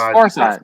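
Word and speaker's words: Pharcyde: r c y That's Far Side that's far side okay Far Side yeah I heard of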